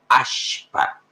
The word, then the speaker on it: Ashpa: Ashpa. SH. ¿Han visto un combustible conocido? Se escribe con SH y se pronuncia sh.